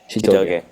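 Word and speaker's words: Chitoge: Shitoge, or how do I pronounce that? Shitoge.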